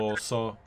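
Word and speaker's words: Kamelåså: Is this Kamelasa? Is that how you pronounce it? Cameloso.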